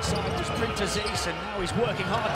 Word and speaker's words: Printezis: We've been schooled on pronunciation by those in the Greek camp. Printezis.